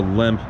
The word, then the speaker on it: Lemp: And this is the Lemp Coach House. I guess that's how you pronounce it the German way.